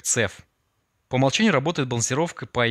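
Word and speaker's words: CEF: Express forwarding сокращенность EF в русской интерпретации произносится как цеф по умолчанию работает балансировка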